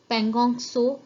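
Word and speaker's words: Pangong Tso: पेंगोंग TSO which is pronounce as पेंगोंग सो lake, जो लेह लद्दाख की बहुत फेमस लेक है।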